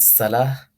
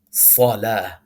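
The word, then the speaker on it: صلاة: This is salah. Not salah, salah. The sad is heavy.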